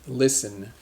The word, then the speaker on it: listen: say listen so it's almost like Li Sen listen an example sentence I like to listen to